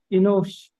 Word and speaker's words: Enosh: The second word, Enosh. okay, nosh, nosh, okay, hurried E sound, nosh, nosh.